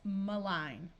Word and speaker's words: malign: just added an m so it's malign but when we add some suffixes it becomes malignancy where the n Sound is clear if you need more